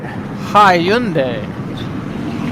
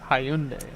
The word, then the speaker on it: Hyundai: Hundai. Like, you don't understand, bro. Like, I'm really a different ball game. Like, I'm really that dude. That's the first time I've ever heard him mispronounce that. Hyundai.